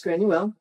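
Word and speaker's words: Gráinne: of the boat is granule which is the gaelic pronunciation of grace o'malley okay so mali was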